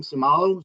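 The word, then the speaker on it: Seumalo: the the kid Isaac I don't know how to say his name somalos is that how you pronounce it yes yeah okay so we signed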